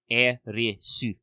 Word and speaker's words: Aerith: some character notebooks, but Aerith's name is just how you would transliterate into Japanese the syllables for the English word earth. Earth, E-A-R-T-H. Erisu. So, her name is probably best localized as Aerith.